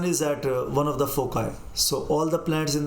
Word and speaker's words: foci: Okay, so pronunciation of foci is foci.